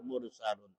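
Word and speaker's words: الْمُرْسَلُونَ: Kemudian mursaluna, tulisannya dibaca mursalun karena waqaf, karena berhenti, dimatikan.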